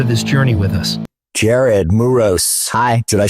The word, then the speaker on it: Jared Muros: Jared Muros.